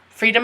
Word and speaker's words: freedom: Freedom of speech is a right. So, for pronouncing it, we just learned free. So, free, dumb. And the O sounds like a U.